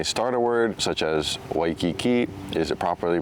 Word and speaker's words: Waikiki: So there's actually three common pronunciations for the W. There's a V sound, a soft V, and then a W sound. So to get to this question with this word, you know, typically it's Waikiki, maybe like a soft or a V sound.